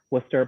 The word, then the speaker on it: Worcester: So when you're trying to think of how to pronounce it, just forget about most of the letters in the middle of the word Worcester and just say WPI, and you'll be much better off.